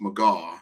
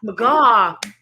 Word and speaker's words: McGaw: you I've just giving my name is pronounced McGaw Maga because Dr Kelly always says when you say your name remind people that you're from Omaha's and you're McGaw from Omaha now how it works right